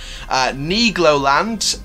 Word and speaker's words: Nigloland: the last video and said that's how it's pronounced so knee Glo land is opening a brand new Mac coaster in